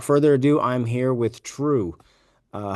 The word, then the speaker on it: Trew: that uh without further Ado I'm here with true uh how are you true good how are you good good so for